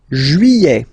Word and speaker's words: juillet: Juillet. Okay, you get this double L here. Juillet. Juillet. Don't pronounce this final T, E-T here at the end.